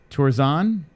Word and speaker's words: Tuerxun: how you say that Jessi - were song tours on is how you say Kenshiro tours on -